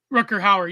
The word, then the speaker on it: Rutger Hauer: Rutger Hauer, yeah. Kind of like Rutgers University. Is that how you say his name?